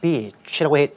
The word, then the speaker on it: beach: 어떠한 해안선인가 봤더니 of a Queensland beach라고 되어 있군요. 이때 beach, 발음 정말 길게 하셔야 된다는 거 명심하셔야 되겠는데요.